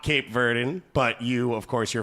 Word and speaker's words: Cape Verde: Okay, the correct English pronunciation is Cape Verde. Okay. All right. Which I thought Don't say the E ever.